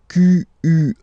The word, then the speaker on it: quel: Quel, masculine form here, will be pronounced exactly as the feminine form here. Quel. So only one sound, okay?